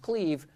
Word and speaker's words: Clive: guy named Cleve Rush, spelled Clive but pronounced Cleve, who went on to coach the Patriots and have a nervous breakdown.